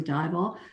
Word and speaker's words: Dival: I mean, rhymes with highball.